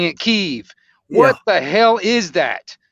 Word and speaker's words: Kyiv: heard the name of that city in Ukraine pronounced Kiev. Now they're all pronouncing it Kyiv.